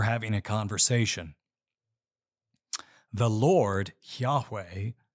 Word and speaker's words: Yahweh: Hebrew letters that we translate as YH wh pronounced Yahweh this is the sacred name of the one